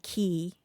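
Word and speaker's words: quay: driving to subdivisions and they have the name key qua y uh if there's a WARF in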